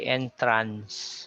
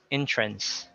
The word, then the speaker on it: entrance: So you don't say entrance, but entrance.